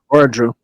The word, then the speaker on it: Oradru: Oradru, right? That's how you say it, Oradru? Oradru? Yeah, Oradru. Oradru, the princess needs to speak with you.